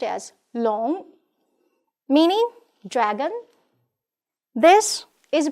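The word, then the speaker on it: 龙: This one is pronounced as long, meaning dragon.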